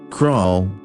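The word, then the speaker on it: król: calling her crawl chadwiga crowell with the missing accent means king and is pronounced like the english word cruel so i thought i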